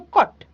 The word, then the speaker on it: caught: G and H okay so G and H are silent so cut it will appear to you like the spelling be c a u t but it is c a u g HT right so cot G